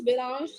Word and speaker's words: Belange: something big belage am I saying it right yeah belange like Solange belange oh you have been